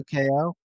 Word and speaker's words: 2XKO: supposed to be pronounced 2 times KO or 2 times knockout. But the X is silent, just like Hunter x Hunter. No, damn. So 2KO. It's supposed to be 2KO.